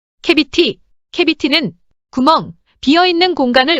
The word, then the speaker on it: cavity: 캐비티 캐비티는 구멍 비어 있는 공간을 의미합니다. C가 A 앞에 오면 C는 K로 발음됩니다.